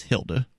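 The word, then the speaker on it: Hilde: from and I think her name is Hilda H il de that's pronounce Hilda right like an old lady's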